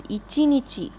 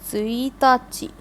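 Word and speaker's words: 一日: But this kanji here, if it means 1 day, you will pronounce it, or you will read it as ichinichi. But if it is the first day, you will read it as tsuitachi. So this is a bit of an exception.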